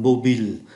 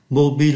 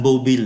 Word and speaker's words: mobile: Ở trong bài thì dùng chữ am mobile. Mobile là điện thoại di động. Chúng ta không có đọc là mobile giống như trong tiếng Anh nhé.